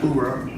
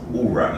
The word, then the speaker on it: Oorah: hoorah. What the? No, it's Oorah, not Oorah.